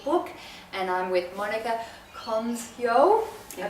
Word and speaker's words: Colmsjo: author of The Amazing Army, Gets Kids Healthy book, and I'm with Monica Colmsjo. Yes. I pronounced it correctly?